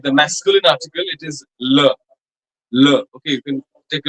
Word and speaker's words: les: Like the masculine article, it is le. Okay, you can take a look how I'm pronouncing it. It's le. The feminine article is la, and the plural article les will be le.